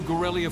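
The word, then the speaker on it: Garellia: Welcome to Gorelia Fortress.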